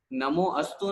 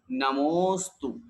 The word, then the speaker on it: नमोस्तु: की आवश्यकता नहीं होती बहुत से लोग नमोअस्तु बोलते हैं नमोअस्तु नहीं नमोस्तु जब संधि विच्छेद करेंगे तो फिर निकलेगा नाम है अस्तु ऐसा पूरा एक साथ बोलेंगे नमोस्तु फिर बोलिए और वासनिक